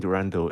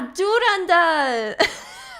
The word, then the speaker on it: Durandal: I think it was like the first few interaction between Durando and Kiana.